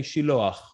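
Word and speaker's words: שילוח: Originally in Hebrew, we say Shiloach.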